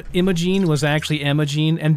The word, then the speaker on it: Imogene: here too um imogene i didn't realize that imogene is spelled like i think it's i-m-o-g-e-n-e i thought it was like emma gene like you'd call like you'd say some like you'd say norma jean or billie jean is one of those